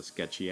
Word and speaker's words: SKTCHY: I'm starting this sketch with a reference from the Sketchy app. It's spelled SKTCHY.